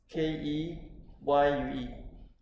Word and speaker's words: Keyue: Oh, how to pronounce again? Keyue. K-E, K-E-Y-U-E.